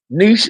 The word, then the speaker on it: niche: Niche is pronounced niche.